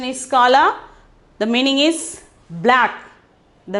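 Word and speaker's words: काला: Okay, kala, pronunciation is kala.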